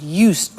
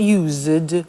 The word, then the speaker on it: used: listen to the pronunciation i said used with t sound used not used or used used that's very important to distinguish it from the other verb use okay used the next